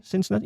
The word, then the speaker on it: Cincinnati: Is that how you pronounce it? Yeah. Cincinnati? Yeah.